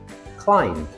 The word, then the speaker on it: climb: B is silent when it comes after M at the end of a word. Why? From Old English, Germanic languages. We once pronounced the B, but it slowed down speech, so it was dropped.